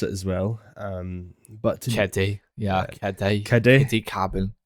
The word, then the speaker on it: Keddie: But no, But it's like the Eddie, but with a K at the start, like a Keddie.